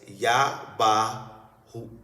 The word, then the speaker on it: Yabahu: The black people of that time, the original owners of language, pronounced the name in its proper pronunciation as Yabahu.